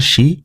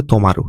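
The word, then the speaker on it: 止: তারপরে অনের উচ্চারণ হচ্ছে শি, কুনের উচ্চারণ হচ্ছে তোমারু, ঠিক আছে?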